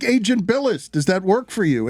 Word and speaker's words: Bilas: So they would say Agent Bilas, and then I would have to say no, it's Agent Bilas, special agent.